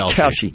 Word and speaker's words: Kalshi: I think it's Kalshi. Kalshi. Yeah. Because I heard her pronounce it numerous times.